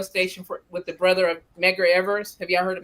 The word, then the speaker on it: Medgar: Oh, like Edgar? Medgar?